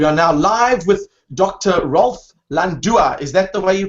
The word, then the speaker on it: Rolf Landua: Rolf Landua. Is that the way you pronounce it?